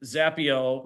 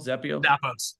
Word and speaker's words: Zappos: So now you're talking about with Zappio, how they were celebrating the wins, right? Was it Zappio? Did I pronounce that right? Zappio? Zappos. Zappos.